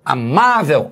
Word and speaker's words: amável: Muito cuidado com revólver, paroxítono, látex, paroxítono, amável. Olha a tônica, má é a penúltima sílaba que é forte.